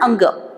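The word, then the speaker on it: ङ: क्या आपको लगेगा कि ये क्या है, तो आप इसको ड पढ़ोगे, वो ड ही नहीं है, ये यहाँ प्रोनाउंसिएशन लिखा है अंग, तो ये हमको पढ़ना है अंग।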